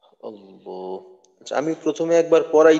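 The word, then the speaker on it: اللهُ: বিসমিল্লাহির রাহমানির রাহিম আল্লাহু আল্লাহ আচ্ছা এইখানে দুইটা কায়দা আছে দুইটা কায়দা কি বলতে পারবো আল্লাহু এই শব্দের মাঝে হুজুর একটা মোটা করতে হবে ল মোটা করতে হবে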